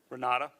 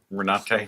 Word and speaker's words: Renate: Renata? Renata? Renate. With an E at the end, R-E-N-A-T-E. Is that Correct.